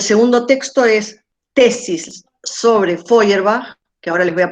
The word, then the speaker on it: Feuerbach: escribe no se preocupen sí se pronuncia así como el mar se le bien sí como las flores de bach las flores de bach pero con un folio en adelante bueno